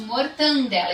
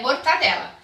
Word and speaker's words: mortadela: prestígio não é ok é inadequada então é mortadela a mesma fazer converso